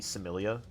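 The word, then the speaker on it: Psemilla: I'm not supposed to pronounce the P, I'm fairly certain. It's like just supposed to be Similia.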